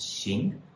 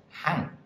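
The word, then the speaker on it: 行: here's our first one which can be pronounced sing or it can be pronounced Han so if it's sing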